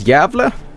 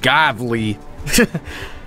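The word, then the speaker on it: Gävle: How do you pronounce Yavle? Oh, so there's two umlauts over the A in Yavle? It's not Gavli. Yavle. The A with the two omelets is not A, it's A.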